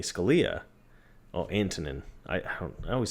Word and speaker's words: Antonin: Amanda, had texted me, "Did you hear about Anthony Scalia?" Oh, Antonin. I always say his name wrong.